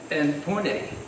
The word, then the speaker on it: Pune: And Pune, that's the correct pronunciation?